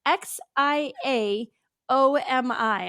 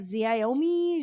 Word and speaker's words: Xiaomi: so everyone knows it's x i a o m i I'm like zomi zami zami I and how do you say it Sam xiaomi yeah no that